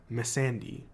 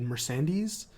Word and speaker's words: Missandei: And on Game of Thrones, she plays a character named Missandei. Now, the first correction is that I pronounced it wrong last week. I said Mercedes.